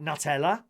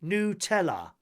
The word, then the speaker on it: Nutella: the hazelnut chocolate spread, you're probably pronouncing that wrong the whole time. Most people would say Nutella. Yes, me. But it's actually Nutella. Nutella. Nutella.